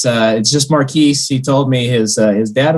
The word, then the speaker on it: Markquis: It's just Markquis.